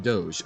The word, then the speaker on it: Doge: Venice no please oh my God it is pronounced like Doge okay oh Duke Duke okay the IPA was